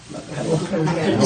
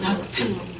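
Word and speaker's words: Rockefeller: 한국 사람들이 어떻게 발음해요? 라펠로. 저희는 이제 라크펠로라고 합니다. 영어로 말하면 라크펠로. 라펠로 그럼 잘 못 알아들어요. 그래서 라크펠로라고 말해요.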